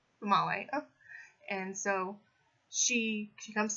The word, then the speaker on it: Female: Her name is Famale, female, but pronounced Famale.